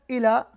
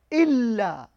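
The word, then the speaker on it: إلا: So it's the same as the regular harakat, but you got to extend the alphabet for like 2 seconds, like here, not ila, illa.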